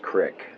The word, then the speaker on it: Creek: Spelled Creek, pronounced Crick.